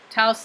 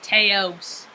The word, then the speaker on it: Taos: like welcome to taos taos like house because i always say i'd say teops but it's not pronounced